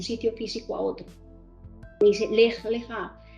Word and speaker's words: Lech Lecha: Dios es en hebreo, Lech Lecha, así se pronuncia, Lech Lecha, lo que le está diciendo a Abraham, ve